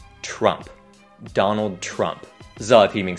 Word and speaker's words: Trump: Nó không phải chờ mà là tra. Thử đọc như thế này nhé. Tra, tra, tra, tra. Và các bạn cũng hãy nhớ kết thúc họ của ông ta với một âm p nhẹ.